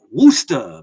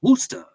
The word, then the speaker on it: Worcester: They formed in Worcester, Massachusetts, not Worcester like the sauce. Worcester. I say it like Worcester.